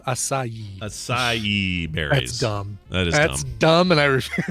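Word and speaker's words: açaí: used to pronounce it acai berries yeah it's a Sai berry acai berries somebody somebody the chat room is going to acai a so it's three syllables acai acai that's dumb and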